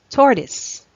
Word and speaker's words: tortoise: synecdoche next we have tortoise tortoise tortoise it's any of a family of terrestrial turtles tortoise it's not tortoise it's tortoise vague vague